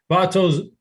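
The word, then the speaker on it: Votto: conversation but chop how do you feel about vato and the rest of the first baseman yeah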